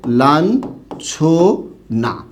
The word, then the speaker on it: লাঞ্ছনা: এখানে দেখুন তো, ইয় যুক্ত হয়েছে কার পূর্বে? ছয়ের পূর্বে, তাই এর উচ্চারণটা কি হবে? লাঞ্ছনা। এটা হবে এই শব্দটার সঠিক উচ্চারণ।